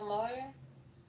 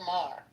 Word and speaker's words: Maher: I see Wayne Brady went after Bill Moyer. How do you say his name? Moyer. Moyer. Saying he's a racist. Bill Maher.